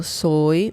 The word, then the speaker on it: soy: Soy, yo soy means I am, but we can just say soy. The pronunciation is very much the same as the one in, for example, soy milk.